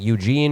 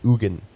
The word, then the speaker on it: Eugen: EU g en so for a while I thought it was just like Eugene OR Eugene you Jen which would be like maybe you but no it's the Swiss pronounce it Egon but he was a